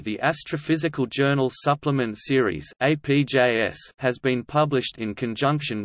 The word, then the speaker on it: ApJ: The Astrophysical Journal, often abbreviated APJ, pronounced APJ in references and speech, is a peer-reviewed scientific